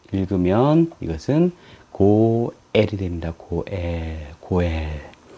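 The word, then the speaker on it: גואל: 그냥 에만 발음, 에 모음만 발음해주면 되겠습니다. 자, 다음에 이것은 나중에 배우고요. 그래서 합쳐서 쭉 읽으면 이것은 고엘이 됩니다.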